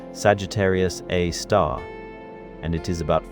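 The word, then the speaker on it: Sagittarius A*: ah which is pronounced Sagittarius A star and it is about 4 million times more massive than our sun.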